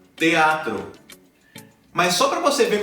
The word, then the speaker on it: teatro: Se você tem essa sílaba com E ou com I, TE, TI, no início da palavra, você pode supor que essa pronúncia ela vai se manter, né? Você vai dizer, por exemplo, teatro, teatro.